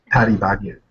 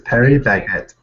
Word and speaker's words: Paris Baguette: whole world you know do you know how you pronounce it Patty baget par baget it's Perry baget you said Paris I think that's the way they pronounce it in like Korean like that's how they do it like that's because it's